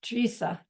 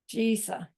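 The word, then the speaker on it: Drisa: It's spelled D-R-I-S-A, but the D is one of those Tibetan letters that you can't quite tell the difference between a D and a T. So when you hear Geshe say it, it sounds like Trisa. But if you listen carefully, you can hear the D in there too. And then the I is like a long E.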